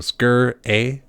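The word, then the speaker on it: Sgr A*: a are scre as SGR is how it's spelt but the G in the aura are small its are small they're not capitalized lowercase that's the one that's the word so skirt a I'm just going to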